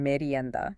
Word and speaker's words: merienda: Yes, let's pronounce that one, merienda.